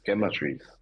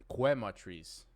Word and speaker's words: Chematrice: It's Chematrice. It's not Quematrice.